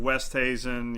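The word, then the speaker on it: Oosthuizen: tell me so Louis usas how do you say that one Lou usas works I've heard West haasen yeah usas works yeah Louie uh Carl schwarzel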